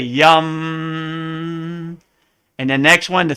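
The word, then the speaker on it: यं: So the next one looks like yam, the heart chakra, but it's really yum.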